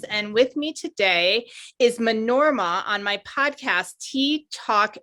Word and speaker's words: Manorama: And my name is pronounced Manorama with the accent again on that last the O and the A.